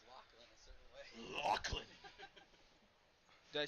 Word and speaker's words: Lachlan: I do believe you're supposed to pronounce Lachlan a certain way. Lachlan.